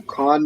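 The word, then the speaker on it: כן: So Khan means yes. If you want to write Khan, then write next to it yes. And then in the word Khan, it's one syllable. You pronounce it just one syllable, and it's two characters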